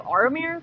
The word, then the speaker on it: Aramir: more time will you aramir that's how it's pronounced I got it I